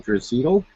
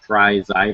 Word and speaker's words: Draisaitl: They pronounce his name really weird. I was watching some highlights. It was like Draisaitl or something. It could be Draisaitl, but I'm going to say Draisaitl here.